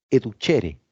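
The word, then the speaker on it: educere: origen latino que significa educhere Recuerden que se escribe tu ser así tal cual pero se pronuncia con h intermedia educhere educhere significa alimento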